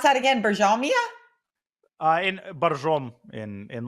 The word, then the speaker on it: Borjomi: In Barjom, in like the Russian pronunciations, Barjom, but Barjomi is the proper spelling.